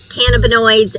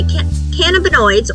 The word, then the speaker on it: cannabinoids: involve a combination of cannabinoids and terpenes. So, to clarify, cannabinoids or cannabinoids, depending on how you pronounce it, and that all depends on which part of the world you're in, these are the chemical